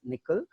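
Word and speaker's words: N1QL: That's why it is called as MonQL, and it is pronounced as nickel.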